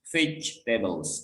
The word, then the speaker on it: vegetables: Jadi huruf E setelah G ini tidak dibaca. Jadi seolah-olah kita tuh bacanya vegetables. Jadi bukan vegetables.